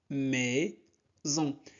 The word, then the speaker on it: maison: maison. S entre deux voyelles se prononce Z, maison.